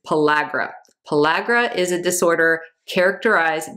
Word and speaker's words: pellagra: If you are lacking in B3, this causes a condition called pellagra, which I'm pretty sure I've been mispronouncing forever, but I looked it up before I did this video and it is pellagra.